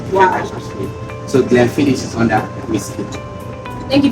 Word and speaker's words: Glenfiddich: I mean, is it Glendish or Glenfiddich? It's Glenfiddich.